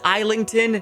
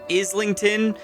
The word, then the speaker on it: Islington: And yes, it is Eington, not Islington, like The Burrow in London.